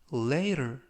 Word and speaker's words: later: 이번 표현은 later, later, later 이라고 발음하시면 되겠고요. 이때 t는 연음에 의해서 트가 아니라 르 그래서 later 라고 발음하시면 좋겠습니다.